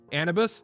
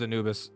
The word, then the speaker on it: Anubis: could get spell power anibus is that how it's pronounced i thought it was anubis it probably is anubis i guarantee you you're right i say things wrong